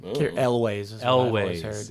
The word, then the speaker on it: Elwes: That's how I pronounce his last name. Elways.